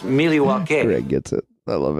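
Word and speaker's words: Milwaukee: Mr scream actually it's pronounced miliwaki Greg gets it I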